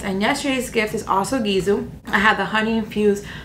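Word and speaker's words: Gisou: I'm always talking about this brand and it's gizo I finally learned how to pronounce it it's gizo I got a little set for you guys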